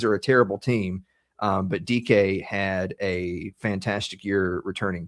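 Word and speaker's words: Dike: My number one is Chimeri Dyke, or DK, excuse me. It's spelled Dyke. It's DK for the Tennessee Titans.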